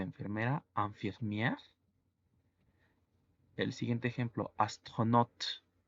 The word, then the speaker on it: astronaute: El siguiente ejemplo, astronaute. La combinación A-U en francés se pronuncia O y la palabra astronauta es masculino y femenino.